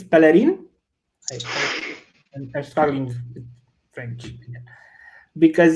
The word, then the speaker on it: Pellerin: It's Pellerin, because French are weird with pronouncing, but Pellerin is good enough, don't worry.